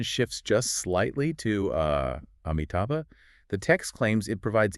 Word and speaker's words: Amitabha: of a single name, Amitabha. Right. Xu Feng contrasts two different ways to pronounce just the very first letter, the A. Yeah, you can pronounce it as ah, or you can pronounce it as a.